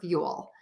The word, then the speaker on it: fuel: the chat for you the difference between few and fuel is I end with that L by touching the back of my top front teeth or that spot where your teeth meet the skin on the roof of your mouth if you struggle with